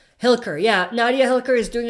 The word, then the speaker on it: Hilliker: do you think nadia hiker is doing a great job portraying Magne I'm not pronouncing that right Nadia hi hill-hill hill-hill occur there we go Hilliker yeah nadia Hilliker is